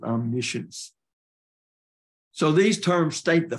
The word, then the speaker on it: omniscience: I think British call that omniscience, but we pronounce it omniscience.